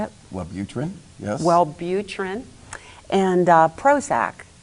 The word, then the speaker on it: Wellbutrin: hormones in your brain that certain drugs like Wellbutrin, is that how you say it? Wellbutrin, yes.